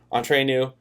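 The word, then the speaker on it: Entre Nous: you I know how to say it now entree new and different strings it's not that they're bad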